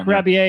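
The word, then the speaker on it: Rebillet: haven't i have the right right time mark grabby a it's spelled like r-e-b-i-l-l-e-t yes uh and it's called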